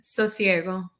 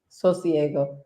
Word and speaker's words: Sosiego: And she's the founder of, how do you pronounce your business? Because I feel like I say it wrong every time. Sosiego. Sosiego.